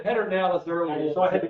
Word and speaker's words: Pedernales: As a Texan, I'm going to call it Pedernales. As someone, I'm going to say Pedernales. As a historian, I'm going to say Pedernales. You said Pedernales earlier, so I had to clear that up.